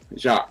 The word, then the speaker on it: Jacques: My name has a silent Q-U-E-S. Basically, all the pronunciation is J-A-C. Jacques.